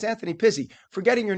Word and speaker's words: Pizzi: So Pizzi, but it's pronounced Pizzi.